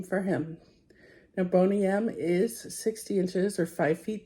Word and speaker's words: Boney M: This is my new friend Bonym. That's spelled B O N E Y and then the letter M.